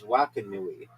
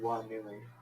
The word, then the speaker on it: Wakanui: It's Wakanui. There's Wakiki. No, it's I don't Wakanui, know. which means big canoe. Wait, what are you saying? No, it's called Wanui. No, it's Wakanui.